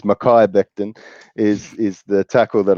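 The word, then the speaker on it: Mekhi Becton: think that they take who you actually pronounced as mickey Becton I think it's Makai Becton is is the tackle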